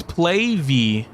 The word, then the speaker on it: Plave: So, it's PlayV.